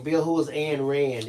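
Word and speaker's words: Ayn Rand: Eileen Moore is saying, Bill, who is Anne Rand? It's spelled like A-Y-N for Anne, A-Y-N, and Rand, R-A-N-D.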